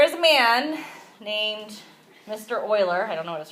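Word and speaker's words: Euler: a man named Mr Oiler I don't know what his first name is it's not pronounced uler it's actually pronounced Oiler like o i l e r so Oilers theorem gives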